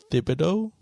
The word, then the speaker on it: Thibodeaux: dubex dubex dubai like it's like a french french ending but when you read it you want to say something different than what it actually pronounces but um he came